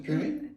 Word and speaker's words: puéril: Ronique, puéril. Huh? What? Puéril. Purée. What? Puéril. Puéril? Ça veut dire quoi? C'est quoi la signification? Tu connais pas la signification de puéril?